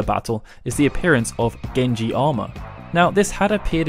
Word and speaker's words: Genji: As mentioned earlier, Benkei was part of the Minamoto clan, which can also be pronounced as Genji, with Gen representing Minamoto and Ji representing family.